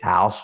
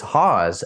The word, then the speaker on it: Hause: attach our last name is so many people mispronounce it and they say it's house or what you know or Haas or whatever so it's Haws and I'm and I always you know uh